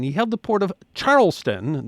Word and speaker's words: Charleston: In May of 1718, he held the Port of Charleston, then pronounced Charles Town, South Carolina, hostage.